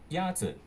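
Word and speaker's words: 鸭子: Yazi. Is pronounced with a first tone. In Mandarin, there are 4 tones, which are essential to distinguish the meaning of words. The first tone is a high, level tone.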